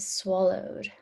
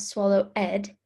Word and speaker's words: swallowed: hungry, mouthful, sandwich, and swallowed. Swallowed. Remember, even though it has an ed, it's not swallow ed, it's swallowed, because that ed makes the d sound at the end of the word.